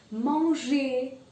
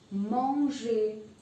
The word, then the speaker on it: manger: Manger. Manger. This means to eat. Danser means to dance. Now the pronunciation of OI.